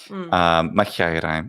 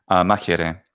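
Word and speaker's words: μάχαιραι: Machiairai, machiairai, machiairai, machiairai, machiairai. Machiairai. Excellent. Modern Greek pronunciation. Yeah, exactly. Modern Greek pronunciation is machiere.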